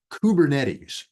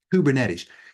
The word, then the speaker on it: Kubernetes: That's pronounced Kubernetes. Kubernetes.